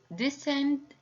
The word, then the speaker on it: descent: Number 5, she's moving down, so this is descent. And the last one, it's a crescent. So all these words have the silent C and this letter preceded by the letter S. So because of that is silent.